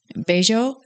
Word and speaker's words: Bello: Like Bello, and it's spelled Bello, and that's how it's pronounced.